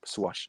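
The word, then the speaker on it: Soares: right by the way that's actually the correct pronunciation swash suarez it's portuguese not english okay well i'm sorry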